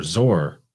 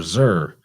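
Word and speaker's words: Tyre: phoenicia tur isn't by a lot of people pronounced tire or tear because it's spelled t-y-r-e but it's pronounced sir or zor or zur it's all phonetically the same because it's from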